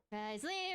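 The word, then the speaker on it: Wriothesley: Risley!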